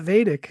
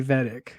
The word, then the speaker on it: Vedic: it's it's it's okay wait vadic am I saying it right yeah vadic yeah okay I got it I got it vadic no one's going to think any different if you say vtic so um yeah other